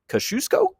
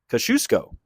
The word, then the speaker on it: Kosciusko: Today we're taking a look at a neighborhood that's hard to pronounce. It's Kash Kashusco. Kashusco.